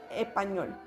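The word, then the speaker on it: espagnol: Caso así tenemos la palabra español, que va a ser español. Nosotros la pronunciamos así, como algunas otras palabras que también tienen esta conjugación.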